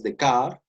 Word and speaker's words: Descartes: Voy a terminar con este filósofo francés del siglo XVII, un filósofo rebelde como ustedes, llamado René Descartes, se pronuncia en francés Descartes.